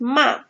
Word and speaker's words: 骂: And we form this new character means 骂. 骂 means to scold. And this character, we borrowed pronunciation from 马.